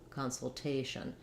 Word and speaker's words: consultation: Now in consultation, we have a little secondary stress on the con, so it does have that clear ah vowel, just like I was talking about with consult, if we make it first syllable stress and shorten that noun. So instead of consult, instead of our almost no vowel con saying con, in this word con says consultation.